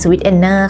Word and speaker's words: Swiss Ener: แบรนด์ Sweet Energy จะ เปลี่ยน ชื่อ เป็น Band Sweet enner ค่ะ โดย ตัด คำ ว่า g กับ Y